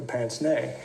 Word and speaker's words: pince-nez: And yes, that's how it's pronounced. He was the college professor with the pince-nez, so he's easy to bash.